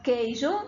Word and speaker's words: queijo: Por exemplo, na palavra queijo, eu tenho aí a palavra Q-U-E-I, eu tenho Q-U-E-I, J-O. Aí eu tenho queijo, mas eu não pronuncio U, isso não é um